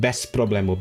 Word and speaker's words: bez problemu: Like, you know how, for example, in Polish, if you have like a bez problemu, you write it as bez problemu, but you pronounce it bez problemu because it becomes like the z becomes a s.